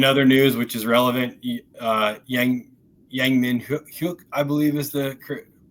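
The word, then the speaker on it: Yang Min-hyuk: In other news, which is relevant, Yang Min Hyuk, I believe is the correct pronunciation of our new winger, did arrive at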